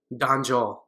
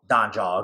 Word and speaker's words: Dhanjal: Dhanjal. Dhanjal.